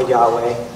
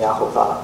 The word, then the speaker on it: Yahuwah: to me saying Yahuwah, but when I read it, that's what it looks like it's pronounced like, and even though that feels foreign to me, I know it probably feels foreign to you guys. That's how I've been saying it, because that's how it's spelled. And also, Jewish people know how to read Hebrew, and that's how they pronounce it too.